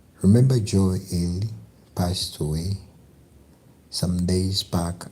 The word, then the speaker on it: Ely: Mr. Ely, pronounced as Ely, came from a long